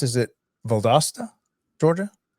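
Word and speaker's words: Valdosta: So So now how do you pronounce Is it Valdasta, Georgia? Valdasta.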